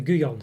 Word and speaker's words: Gullón: i said it's not gullon it wasn't anything it could be wrong but it's a spanish company so the double l is pronounced like a y in there in english anyway so goo gone so there we go